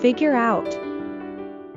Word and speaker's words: figure out: when pronouncing the phrase We link the ER sound at the end of figure with the L at the beginning of out figure out figure out I should figure out her name I should